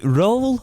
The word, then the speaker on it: Röhl: Is it Röhl or Röhl? Danny Röhl. Röhl. Is it Röhl? It's like Hull.